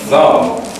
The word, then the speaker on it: thumb: yeah th thumb yeah the key in the pronunciation of thumb thumb is the th sound the the thumb comes out between the teeth thumb thumb thumb like like thing th th not from thumb thumb I took